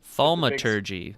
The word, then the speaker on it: Thaumaturgy: Thaumaturgy is how you say it.